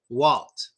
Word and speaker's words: Walt: Use your tongue. Make the L sound hard. Walt.